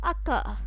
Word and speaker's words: occur: Alright, then where C and C they come together, again it is pronounced as k. For example, occur.